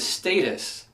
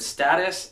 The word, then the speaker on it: status: here on out, but the word is status. But I think a majority of people pronounce it status, and I don't think I can pronounce it status.